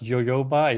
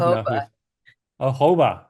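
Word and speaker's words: jojoba: and um I just learned how to actually pronounce yoyoba it's not yoyoba it's what is it h oh hoba all right that's that's much better and Almon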